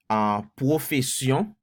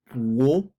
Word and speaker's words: Pwofesyon: So, Pwofesyon is how you say it in Creole. Pwofesyon.